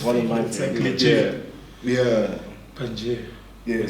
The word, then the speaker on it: Pangea: Pangea.